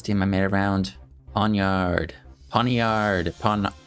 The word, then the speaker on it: Pawniard: Ponyard. Pawn. This guy's name I I may mispronounce quite a bit, but I looked it up. Pawnard and it is Pawnard according to what I found.